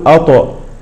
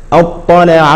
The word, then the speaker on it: اطلع: ناتي الى الادغام فهذه فهذه الطاء لا تقلقل فلا نقول اط اطلع اطلع الغيب هكذا ننطقها كذلك مثال اخر والطارق